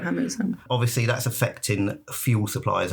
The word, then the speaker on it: Hormuz: Is that how you say it? Exactly. You say it on your news a lot, so I think you will know how to say it. Hormuz.